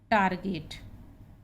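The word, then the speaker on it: target: तो ये नियम है हमारा कि जी के बाद ई आने पर हम जा बोलते हैं, लेकिन ये अपवाद है कि ये शब्द में इसका उच्चारण गा है। टारगेट, और यहाँ पे इसको पढ़ेंगे हम लिंगर।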